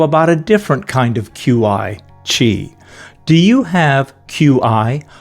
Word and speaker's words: Qi: Do you have QI? The word QI, pronounced Qi, is traditional Chinese medicine